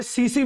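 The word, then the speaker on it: tsetse: का शब्द है ये ये सीसी ये साइलेंट है यहां पर इसको सीसी फ्लाई कहते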